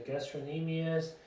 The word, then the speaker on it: gastrocnemius: legs here and gastroenemia so the c doesn't pronounce right gastroenemies your gastrocnemius has the posterior of